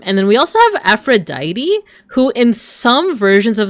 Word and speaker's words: Aphrodite: That actually includes the first person that we're going to um concentrate on today is Aphrodite or Afro Aphroditi as they would say in like the um the the Greek pronunciation.